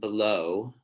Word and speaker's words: below: words that um are differing in stress here between bellow and below okay the first syllable stressed on bellow the second syllable stressed on below and this is an